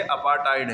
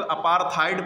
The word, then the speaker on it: apartheid: बहुत से लोग अपार्थाइड पढ़ते हैं, वो ना पढ़ें, प्रोनाउंसिएशन वो गलत है। अपार्टाइड, अपार्थाइड भी कह सकते हैं, अपार्टाइड भी कह सकते हैं, ठीक है।